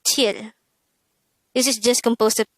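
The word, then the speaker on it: 칠: Next, the SINO-KOREAN version of number 7 is chil. Again, it's chil.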